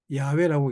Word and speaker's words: 야훼: 야훼라고 읽습니다.